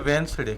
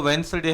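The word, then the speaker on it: Wednesday: में इसको पढ़ते हैं वेडनेसडे। क्या पढ़ते हैं? वेडनेसडे, है ना। वेडनेस नहीं बोला जाता, ठीक है। उच्चारण समझिएगा, इसका प्रोनाउंसिएशन जो है वो वेडनेसडे है, इट इज़ नॉट वेडनेसडे, ठीक है।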